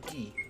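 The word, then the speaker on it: ぎ: That is Gi. Not Ki, but Gi.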